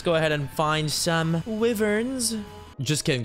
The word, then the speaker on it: wyvern: Let's go ahead and find some wyverns. Just kidding, they're called wyverns. If you ever say wyverns, you're saying it wrong.